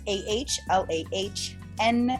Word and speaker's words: Alana: That's AHLAHN as in Nancy, AH.Rose.